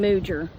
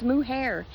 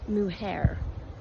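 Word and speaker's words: mujer: I forgot woman Mare which she kept calling Muer I was like it's not Muer it's muhair she said it's m u j e r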